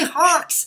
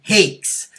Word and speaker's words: Hakes: an element of humor I always say it rhymes with chocolate cake with an h and an s on the end there you go I